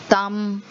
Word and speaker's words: thumb: Then you say succumb, thumb, tomb. So these are all words where the B is silent.